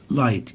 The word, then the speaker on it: light: هنا right، light، الجي اتش لا تنطق، فالجي اتش هنا silent. right، light.